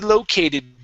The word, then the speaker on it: located: locator located lo located so right here the stress is at the beginning located located huh one